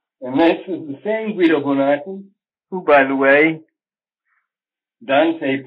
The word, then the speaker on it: Guido Bonatti: with my interest in, Guido Bonatti is the proper pronunciation of his name. I'm always being criticized for slurring these names and these vowels together. So they should properly be spoken with an Italian accent.